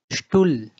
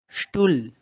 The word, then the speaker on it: Stuhl: But when it comes after any vowel, the vowel will have a long sound and H will be silent. For example, Stuhl, Stehen, Vorstellung.